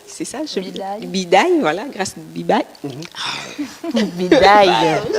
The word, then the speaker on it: Dibaye: Alors oui, on est accompagné de Grace Bibaye, c'est ça? Bidaye. Bidaye, voilà, Grace Bibaye. Bidaye. Allez-y tout doucement. Vous Tout prononcerez doucement, mieux.